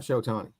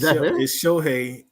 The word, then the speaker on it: Shohei: Okay, until they make the playoffs, Cam, I don't really want you statting me to death about Shotani. It's Shohei.